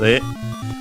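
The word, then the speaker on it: へ: Then we have the particle e written as he but pronounced as e uh towards.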